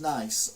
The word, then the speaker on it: Nice: This comic, are nice biscuits pronounced nice or nice? I always pronounce it nice, but my wife insists that it is nice, says Barry Macbeth in Barnes. Well, how do you pronounce it? I pronounce them as nice, although I don't think they are. I think the name's wrong.